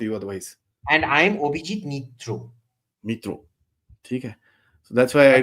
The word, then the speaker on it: Mitra: will come after you otherwise and I'm obij mitro mitro so that's why I don't pronounce but not all A's become O's it's